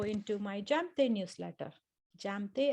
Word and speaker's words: Jamthe: my jump day newsletter jam they as in my name j a m t h e jane my name is not silent for those of you